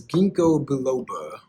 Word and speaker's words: ginkgo biloba: It's ginkgo biloba. I think that's how you pronounce it.